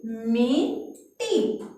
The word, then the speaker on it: मिट्टी: अब देखो इसको कैसे पढ़ेंगे, मिट्टी, क्या बना, मिट्टी। अब देखो इसका जो ये आधा ट है, इसका उच्चारण बहुत ही कम समय के लिए हो रहा है, टी कैसे बोलेंगे, टी, मिट्टी, है ना, तो ये आधा ट आया है।